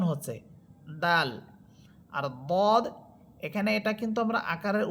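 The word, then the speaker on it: ضاد: মোটা পড়তেছে এর মধ্যে সবচেয়ে বেশি মোটা হবে দদ হরফ।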